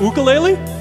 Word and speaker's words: ukulele: Is it pronounced ukulele?